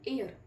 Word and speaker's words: heir: अ, सो एन इज हियर, आवर, आ, एन, HEIR, हायर नहीं pronunciate करते हैं, हम इसे क्या पढ़ते हैं, एयर, जो हम AIR को